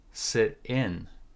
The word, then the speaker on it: sit in: to sit in uh we put more stress on the second syllable on the preposition sit in sit in they invited